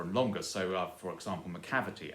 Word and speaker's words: Macavity: longer so for example macavity as in the mechanic mystery cat by TS Eliot that's the stress is on the cab and so you have